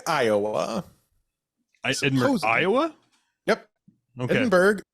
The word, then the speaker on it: Edinburg: Ed Iowa yep okay Edinburg which you notice I didn't say Edinburough right yeah it's because